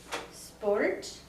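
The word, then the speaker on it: spórt: it's sp sp yeah that one's a little tricky cuz it's sport but it's one syllable uh it's more or less spor it's kind of kind of blend together Sports yeah you could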